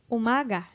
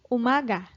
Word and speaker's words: umaga: means woman or female second word is Umaga Oh mah gah Umaga it means morning Umaga third word ha ha